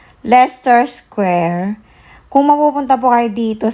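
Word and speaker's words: Leicester Square: ano 24 so ang pronunciation po dito sa lugar na to ay Lester Lester square kung mapupunta po kayo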